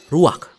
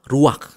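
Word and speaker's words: רוּחַ: Kata dalam bahasa Ibraninya adalah ruach. Ruach? Ya, benar. Tenggorokan kita harus benar-benar bersih di akhir pengucapan.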